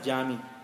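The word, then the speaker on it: cami: but it is called it is it is pronounced pronounced as jami so the masjid of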